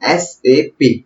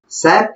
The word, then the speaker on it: SAP: pronounce कर रहा हूं बट इसको ऐसे प्रनंसे नहीं किया जाता है इसको प्रोनाउंस किया जाता है एस ए पी system application products in data processing सैफ एक गलत तरीका है तो आपको कभी भी